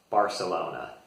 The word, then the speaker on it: Barcelona: Barcelona. Most Americans will pronounce the C like a S sound, which is different than they actually pronounce it in Catalan there.